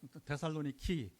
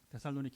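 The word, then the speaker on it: Θεσσαλονίκη: 이제 어 황제데이트 데살로니카 그 현지 발음은 데살로니키 데살로니키 이렇게 발음하는데 바로 자기 여동생 이름으로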